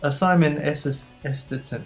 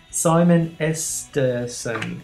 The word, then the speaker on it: Simon Esterson: Simon Esterton. Oh God, my pronunciation's terrible. Shall I try it again? Simon Esterson. Esterson, it's not that hard really, is it?